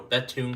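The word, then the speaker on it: Bethune: out of belon Colorado betun Colorado that's actually how it's pronounced belun Colorado so I hope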